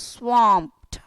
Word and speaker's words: swamped: Sir, W is wa. Circle your lip and say wa, swa. And this is O, swa. Swamped. So you're pronouncing as swamped. Swaw and MPT, swamped. So please understand how to pronounce the word. The phonetic is given here and the pronunciation for your easy understanding is written here. So you pronounce this as swamped.